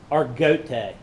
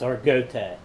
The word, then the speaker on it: Argote: Argote. It's some people's been saying Argote, but the family, it's Argote, is how they pronounce the last name.